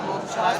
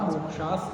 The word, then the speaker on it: मोक्ष: वावास अं संवर निर्जा मोक्षा तत्वम छ का उच्चारण बताया था मोक्ष नहीं मोक्ष मक्ष क और टण वाला क् ये दोनों मिलकर बना है दोनों मिक्स होकर आने चाहिए मोक्ष मोक्ष राजस्थान में